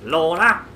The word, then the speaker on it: Lorna: So the whole point of this mission is Charlie's girlfriend, who's called Lorna, and to pronounce it like he does, Lorna.